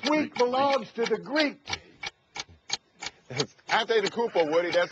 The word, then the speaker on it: Antetokounmpo: Antetokounmpo, Woody, that's how you pronounce it, and that's the choice here because